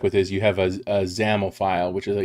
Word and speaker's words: XAML: so with these xaml files that's how you pronounce that xaml example don't remember what that stands for it